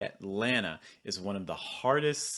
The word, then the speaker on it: Atlanta: some t sounds so atlanta the first thing you're going to do is you're going to notice this held t sound typically you're not saying